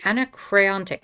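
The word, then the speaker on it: Anacreontic: john stafford smith called bear with me the anna crayon dick song i have very difficult time pronouncing that one word the anachronic song there we go not too bad so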